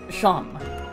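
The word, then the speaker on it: Seam: Pronounced Sham.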